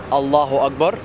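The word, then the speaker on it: الله أكبر: It says in the name of God, and in Egyptian pronunciation or in Arabic pronunciation, it would be Allahu Akbar.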